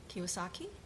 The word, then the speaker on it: Kiyosaki: Yeah, one day I was browsing at a bookstore and I saw a book written by the Rich Dad Poor Dad guy, Kiyosaki.